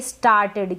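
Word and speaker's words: started: Next है ये स्टार्टेड, क्या है, टीईडी को टिड पढ़ देंगे। ये जो आर है ये आधे र के रूप में प्रोनाउंस हो रहा है और ये जो एस है ना ये आधे स के रूप में, इसको हम पढ़ेंगे स्टार्टेड। क्या पढ़ेंगे, स्टार्टेड। ये ए का आ उच्चारण हो रहा है, यहाँ ए को हम आ पढ़ रहे हैं। टी को ट पढ़ रहे हैं तो टा बन गया, ठीक है, टी ए टा।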